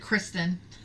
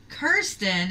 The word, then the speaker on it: Kirsten: I almost said Kristen. Kirsten is my next one. It's so funny. My daughter's a Kirsten. And she gets called Kristen all the time.